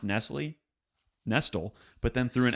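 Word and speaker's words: Nestlé: where you could get cookies she called it nest dolls not only not only mispronounced nestle nestle but then threw an s on that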